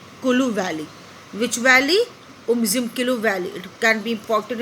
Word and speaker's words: Umzimkulu: They used to organise a Hunt in उमजिमकुलू valley, where you have to pronounce this nicely, Umzimkulu Valley. Which valley? Umzimkulu Valley.